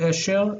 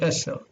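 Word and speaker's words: עשר: Notice that this is sin, eser, not esher, but eser.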